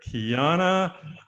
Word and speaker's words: Keana: So we have, help me out here, Keana and Nailani. Yes, you got it. Good job. Perfect. Is that the right pronunciation? Yes.